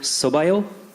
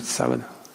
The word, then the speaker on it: sábado: And I just wanted to return the favor by saying, Boa sorte no sobaio. Did I say it correctly? Sábado.